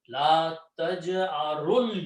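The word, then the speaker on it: لا تجأروا: all these three are not being pronounced. Combine ra with the lam. La taj'arul yawma.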